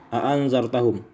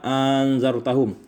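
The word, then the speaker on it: أأنذرتهم: Pertama, bitahqiqil hamzatain, dengan mentahqiqkan atau menetapkan dua hamzah, maka dibaca a'anzartahum. Yang kedua, wa ibdalis tsaniyati alifan, diganti hamzah yang kedua dengan alif, maka dibaca anzartahum.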